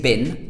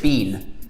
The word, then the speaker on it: been: in Britain say bean we don't say bin like bi n or B en we say bean we pronounce it bean where have you been